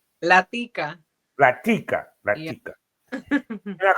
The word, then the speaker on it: La Tica: La Tica.